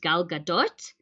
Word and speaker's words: Gal Gadot: gadot some people say gal gadot so in hebrew it should be pronounced gal gadot but i know that